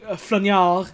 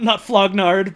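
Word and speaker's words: flaugnarde: It's technically pronounced like flagnard, not flognard, but...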